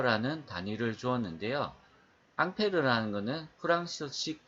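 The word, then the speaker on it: Ampère: 있습니다 1패를 이 사람 의 이름을 따서 이렇게 암페어 라는 단위를 주었는데요 앙페르 라는 것은 프랑스 5c 발음 이구요 인자 미국으로 넘어가면서 미국에서 a 마귀의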